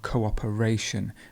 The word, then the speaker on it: cooperation: to cooperate then you have cooperation the stress moves so you have to